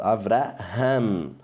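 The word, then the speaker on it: אברהם: Avraham, como a letra R que a gente tem de rato. Avraham, que o H da gente é mudo, né?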